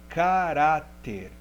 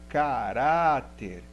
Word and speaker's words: caráter: exemplo aqui no lembrete caráter vamos ver sílaba mais forte última penúltima caráter então a sílaba mais forte é penúltima então caráter é uma paroxítona lembre-se estudem esse quadro